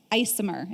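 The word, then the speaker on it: ICMHR: Mental Health Recovery Services or IC mhr isomer is how they're they're pronouncing it these days that's also targeting our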